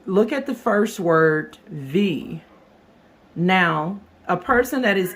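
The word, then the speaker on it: wie: That is because the W in German language is pronounced v as if a V sound in English.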